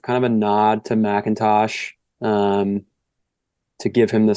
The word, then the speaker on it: McIntosh: from Palo Alto yeah Macintosh I think it's a four-year guy there's no a in there it's m-c-i-n-t-o-s I think it's still pronounced um who's been